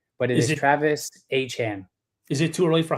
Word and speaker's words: Etienne: His name is not Travis Etienne. It is Travis Etienne. He said in college they could not pronounce it. So he just said, pronounce it as it looks, Etienne. But it is Travis Etienne.